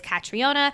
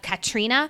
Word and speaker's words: Catriona: ways of pronouncing it there's the American way traditional American way that is catriona and then there's the more UK Irish way of Katrina we're going to continue saying katriona just because that is